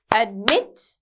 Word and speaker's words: admit: If the verb is two syllables and the stress is on the second syllable, then the end consonant, right? So admitted, admitted, admit, right?